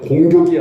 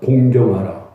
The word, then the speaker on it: 공경하라: 발음 제대로 하세요. 공격이 아니에요. 따라서 합시다. 공경하라.